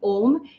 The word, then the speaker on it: Om: When we are chanting Om, we are combining three syllables together: A, U, M.